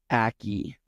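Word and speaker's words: Ackie: Naomi Aki, I believe is how you would pronounce That's it.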